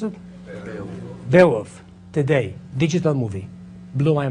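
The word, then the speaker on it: Beowulf: saw the movie B bwolf that's how you pronounce it bwolf today digital movie blew my mind how many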